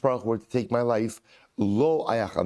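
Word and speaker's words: לו: Even if HaKadosh Baruch Hu were to take my life, lo ayachal. Now lo is spelled lamed vav, but again it's vocalized the same way. That's what the lamed aleph, which is no.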